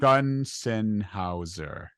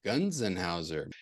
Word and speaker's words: Gonsenhauser: Gonsenhauser. Gonsenhauser.